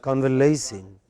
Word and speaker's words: convalescing: not the first or the second language, we pronounce it as convalescing.